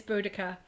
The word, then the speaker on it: Boudicca: Seriously, that- Boudica what- is amazing. Yeah, I haven't even heard that. Okay. Yeah. There's a lot of different pronunciations, and I may have it wrong, but it's Boudicca, and she was a warrior